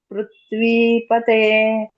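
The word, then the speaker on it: ಪೃಥಿವೀಪತೇ: ಸರಿ ಇದೆಯ ಮಾತಾಜಿ ಅಲ್ಲಿ ಪೃಥ್ವಿ ಅಲ್ಲ ಅದು ಪೃಥ್ವಿ ಅದು ಪೃಥ್ವಿ ಅಲ್ಲ ಮಾತಾಜಿ ಪೃಥ್ವಿಪತೆ ಬೇರೆ ಬೇರೆ ಇದೆ ಪೃಥ್ವಿಪತೆ ಪೃಥ್ವಿಪತೆ ಹರೇ ಕೃಷ್ಣ ಮಾತಾಜಿ ಪೃಥ್ವಿಪತೆ ಪೃಥ್ವಿ ಅಲ್ಲ ಮಾತಾಜಿ ಪೃಥ್ವಿಕೆ ತ ಕೆ ವತ್ತಿ ಇಲ್ಲ ಅಲ್ಲಿ ಸೋ ತ ಕೆ ವತ್ತಿ ಇದ್ದಾಗ ಪೃಥ್ವಿ ಆಗುತ್ತೆ ಬಟ್ ಇಲ್ಲಿ ಬೇರೆ ಇದೆ ಸಪರೇಟ್ ಇದೆ ನೋಡಿ ಪೃಥ್ವಿ ಪತೆ ಪೃಥ್ವಿ ಪತೆ ಸಪರೇಟ್ ಆಗಿ ಹೇಳಬೇಕು ಪೃಥ್ವಿ ಪೃಥ್ವಿಪತೆ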